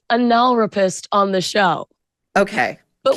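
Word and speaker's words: analrapist: It's pronounced anal rapist on the show.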